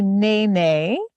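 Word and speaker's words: nēnē: about this bird sure this is called a Nae Nae and you can practice that in the classroom and it's spelled n e with a line over the top of it that's called the kahako and then n e also kahako over the e and that is our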